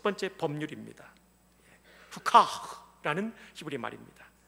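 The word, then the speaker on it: חוקה: 후카, 라는 히브리 말입니다. 이 해 맨 뒤에 나오는 H 발음은 목소리가 들어가는 그런 소리입니다. 그래서 후카 이렇게 발음을 해야 됩니다.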